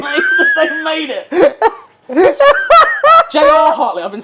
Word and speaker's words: J.R. Hartley: And so many people went looking for Fly Fishing by J.P. Hartley that they made it. J.R. Hartley.